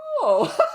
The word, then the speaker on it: ho: But especially both Spanish and Italian have the word HO and variants of it, depending on IU. And it's pronounced O for both of them.